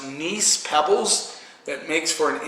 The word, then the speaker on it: gneiss: They have I believe it's pronounced gneiss pebbles that makes for an interesting dynamic in the wines.